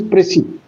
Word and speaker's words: precis: but the pronunciation is prey. Pronunciation is prey and s is inarticulate. or not pronounced because it is the rule of pronunciation of a French word like rescora debris d i s debris etc.